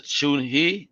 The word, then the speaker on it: Chun He: Then here you got the Chun He. That's how you pronounce it.